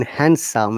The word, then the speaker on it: handsome: d is silent sandwich so in handsome as well d silent so jason is after